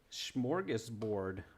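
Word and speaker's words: smörgåsbord: Smorgasbord, I think, is the word.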